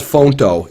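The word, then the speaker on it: Phonto: I use an app called Fonto. It's spelled PHO, and let me write it up here on the screen for you guys so you can write it down.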